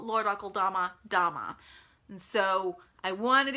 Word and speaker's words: Akeldama: But could you please pronounce Lord Alkodama? Lord Alkodama instead of Lord Alkodama.